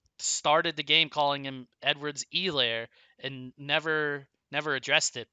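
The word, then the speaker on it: Edwards-Helaire: have to like emphasize the e and there's no h it's really like twitter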